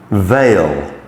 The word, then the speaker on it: veil: So E and I coming together, although they certainly are not A's, actually make the A sound.